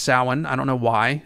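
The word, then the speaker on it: Samhain: spelled like Sam Hayne or something but it's pronounced saan I don't know why it's just an ancient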